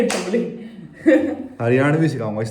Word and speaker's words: हरियाणवी: हरियाणवी सिखाऊंगा इस पे भाई आज That's the name of the language.